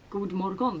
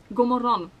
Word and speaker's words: GODMORGON: People probably think that it's pronounced like GODMORGON, like you pronounce all of the letters, but you don't.